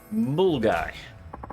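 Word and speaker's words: Milngavie: An example of weird Scottish place name pronunciation is the place called but it's pronounced Mulgai.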